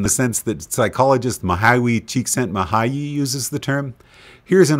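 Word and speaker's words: Csikszentmihalyi: all according to Wikipedia mwi's last name is pronounced chent mahay quite a mouthful the diagram we're looking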